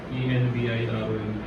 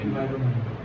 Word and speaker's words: environment: ENVIRONMENT. Environment. Environment. R के बाद O जो है ना वो इस तरह से नहीं आएगा, रो नहीं होगा।